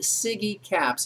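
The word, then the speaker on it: SIGECAPS: your mind it's when we pronounce it siggy caps and let me just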